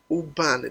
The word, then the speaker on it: Ubani: For those of you who don't know, that name does not mean Boniface or Bonny, whatever. The name Bonny actually means Ubani. Ubani, that's the name, the real Igbo name, Ubani.